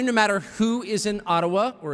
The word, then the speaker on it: Ottawa: It cannot be taken from you no matter who is in Ottawa or as we say Atawa which by the way is the correct pronunciation according to my friends in the Ajiua community.